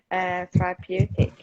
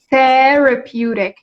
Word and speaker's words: therapeutic: Therapeutic Therapeutic. activity. It's the first syllable. You got it wrong. Therapeutic.